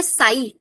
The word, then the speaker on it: psi: This is नॉन ए साई। साई बोलते हैं इसको, और लिखता है ऐसे PSI। पी साइलेंट रहता है।